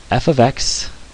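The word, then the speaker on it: f(x): is pronounced F ofx you say F then you say the the word of then you say the word X so f of x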